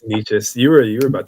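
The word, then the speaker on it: Nečas: you have Martin ni how do you pronounce this name Martin nikis I niches I always mess this up it's niches you were you were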